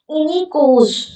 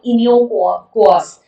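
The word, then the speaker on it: Iniochos: इनिकोस, इसका pronunciation actually कुछ और होगा, इनियोकोस, बट याद रखना ग्रीस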